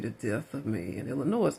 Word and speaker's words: Illinois: Illinois, like annoying somebody.